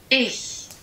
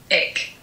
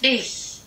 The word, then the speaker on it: ich: This is how Google Translator pronounces it in English. Ick. Ick. And I really feel like sometimes when I hear myself speaking German, just as I've recorded myself, it sounds like I'm saying ick instead of ich.